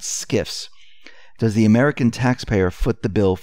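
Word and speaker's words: SCIF: for a sensitive compartmented information facility and it's pronounced skiff but it's spelled s c f now SKS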